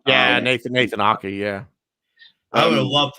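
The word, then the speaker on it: Aké: I know the only person that's injured for them is Ake. Is that how you say his name? Yeah, Nathan Ake.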